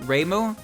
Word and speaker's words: Reimu: this at all yeah ei is more like a y if you were going to compare it to uh like english like if i say yay i say yay y-a-y but if i say re like reimu today it sounds like